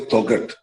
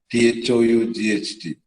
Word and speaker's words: thought: So you don't say thoughat, T-H-O-U-G-H-T, thought.